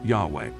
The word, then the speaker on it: Yahweh: but the takeaway is that the name was pronounced yahweh now that we have a likely name for god what what does the name yahweh mean semitic words including those in hebrew usually